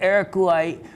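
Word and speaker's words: Araçuaí: Anyway, Aracuaí was one location it comes from.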